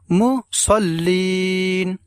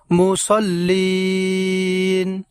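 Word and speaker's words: مُصَلِّينَ: না বলতে হবে আমাদেরকে মুসাল্লিন মুসাল্লিন এবং শেষে লিন এই জায়গায় আমরা টান দেব এইভাবে মুসল্লি তাইলে আমরা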